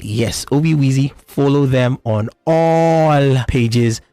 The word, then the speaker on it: Obi Weezy: comom they're also on X at Obi wezy literally Obi wezzy OB wezy is spelled OB i w e z y yes Obi Weezy follow them on all pages and of course